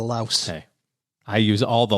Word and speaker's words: Laos: When I was in Southeast Asia, they were pronouncing it Lao instead of Laos.